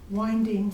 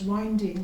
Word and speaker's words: winding: Now, actually, this title can be pronounced 2 ways, either as winding relating to the clock function, or winding referring to the fan blade.